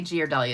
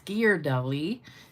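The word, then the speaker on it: Ghirardelli: then I got some I always say GE doly it's gear Dolly I know I was saying it wrong my two favorite flavors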